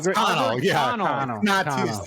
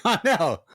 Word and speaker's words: Connell: But right now, no, it's French. It's French. That's French. Albert Connell. What? You Cannell. fucking asshole. Pronounce it correctly, asshole.